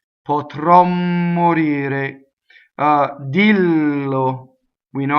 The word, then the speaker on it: morire: So everything is going to be closed in this word because the accent is on the E. We only worry about stressed vowels, right? So the O and the E are closed.